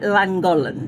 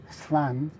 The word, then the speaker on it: Llangollen: Well, it looks like langolan. Yeah. And I won't have to say that. No. Well, a lot of visitors can't help it. So, what is the correct way to say it? Well, it's a double L sound, which is But you've got two double L's in not cl. So, it's flangen.